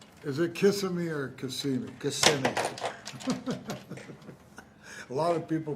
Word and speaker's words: Kissimmee: Kissimmee. A lot of people pronounce it that way, though, Kissimmee.